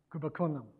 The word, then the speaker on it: Kumbakonam: So I've traveled all this way, and I'm only 200 miles from Kumbakuna. Is that how you pronounce it? Kumbakonam. So of course I have to talk about Ramanujan.